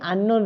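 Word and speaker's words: unknown: হি is dash আননোন ম্যান, অর্থাৎ এই যে আননোন রয়েছে ইউএন, ইউএন, তাহলে ইউ বলতে কি, ইউ আননোনের উচ্চারণটা কেমন হচ্ছে তোমরা একটু লক্ষ্য করো। ইউএন অর্থাৎ আন, ইউএন অর্থাৎ ইউ উচ্চারণ হচ্ছে না।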